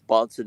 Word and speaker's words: Bahnsen: Of course, Bonson is spelled Bahnsen.